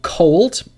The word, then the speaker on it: cold: So Lullaby Mema wrote cold. So in cold, the L is pronounced, so that would be an exception.